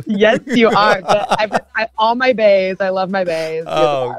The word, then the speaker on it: Baez: If you struggle to spell Baez, it's spelled just like Bae, BAE, and then put a Z.